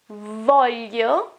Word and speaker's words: voglio: Voglio, which is the verb volere, want, volere, has got this sound here, y.